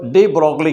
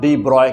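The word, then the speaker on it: de Broglie: अब यहाँ से तो डी ब्रोगली कंसेप्ट बेटा, डी ब्रॉय कंसेप्ट क्या है बेटा, देखो हम लोगों को MV की ज़रूरत है ना।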